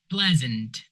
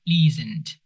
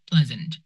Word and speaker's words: pleasant: It is pronounced pleasant, not pleasant. Pleasant e a here pronounce an e sound. pleasant.